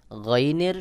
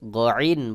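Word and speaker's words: غين: তারপরে রয়েছে গাইন, গাইনের শুধু গ উচ্চারণ হবে। অনেকে ভুল করে গাইন বলে, এটা সহি উচ্চারণ নয়। সহি উচ্চারণ হলো গাইন।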